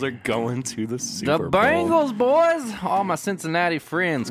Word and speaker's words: Bengals: and Sam corrected me and they're like the Bangals I was like really or I thought they